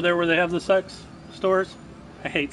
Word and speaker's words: CeX: in America and actually it's pronounced sex which is kind of